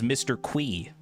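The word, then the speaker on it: Mr. Qi: a podcast, he says Mr. Qui. Like as if it was like Q-U-I, Mr. Qui.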